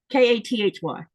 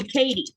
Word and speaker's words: Kathy: a t h y but here in Greenland that th sound is not part of the Greenlandic language pronunciation and people would just people will call it and I don't think it's part of the Danish one either um because they would call me Katie instead Kathy.